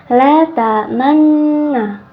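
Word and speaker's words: لَا تَأْمَنَّا: Jadi nunnya itu dibaca dengan mecucu ya teman-teman. Cara membacanya adalah la ta'manna, seperti itu.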